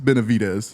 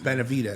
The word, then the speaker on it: Benavidez: How do you say his last name? It's Benavidez. Benavidez. Yeah, All right, I'm sorry.